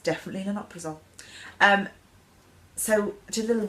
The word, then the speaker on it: lansoprazole: I've been pronouncing it wrongly, lansoprazole. But to be fair, that's how my surgeon worded it as well. But she was like, no, it's lanoprazole.